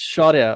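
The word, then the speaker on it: Shaurya: good afternoon yeah um my name is oh it's pronounced shorya okay i missed the edge there so i didn't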